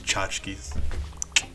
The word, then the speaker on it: tchotchkes: Objects, curios, tchotchkes. You guys didn't think I would know how to pronounce that word. Stop, get out of here. It's tchotchkes.